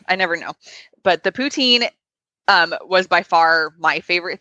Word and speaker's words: poutine: I don't know if I say it right poutine yeah that's how you say it yeah I never know but the pooch in was by far my favorite thing there and